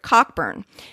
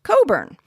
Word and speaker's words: Cockburn: let us know that obvious looking or not it wasn't correct and should be pronounced coburn for example brendon a